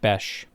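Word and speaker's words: Bech: up for me and it said Beck. And I'm like, "Yeah, I know that that's what you think it is." Because it just it took me to some like how you pronounce BEH or BE C. And I'm like, I know how to how to pronounce it normally, but I'm asking specifically about this guy. And it is Jack Besh.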